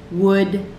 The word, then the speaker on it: would: Could, would, should. They're all these words that rhyme.